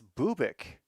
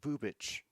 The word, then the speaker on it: Bubic: They're listing him at seven innings of work, and yep, Chris Bubik is coming in. He's on working on 3 days of rest. Oh, it's pronounced Bubic.